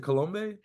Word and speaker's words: Colombe: Is it Colombe? The B is actually silent. How do you say So Colombe. It's Cologne? French. Oh, wow. It's Yeah. French? Yeah, it's French.